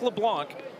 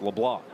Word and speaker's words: LeBlanc: That's why you don't pronounce the C at the end of his name. It looks like LeBlanc, but it's not LeBlanc. It's LeBlanc.